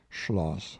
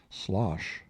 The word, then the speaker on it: Schloss: Miss Smith to adopt the prevailing pronunciation of schoss by saying Schloss softly and casually every time she said slos but nobody succeeded in